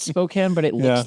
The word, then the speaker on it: Spokane: dumb one but I when people try to pronounce the word the city in Washington Spokane but they say Spokane yeah I've said it both ways I know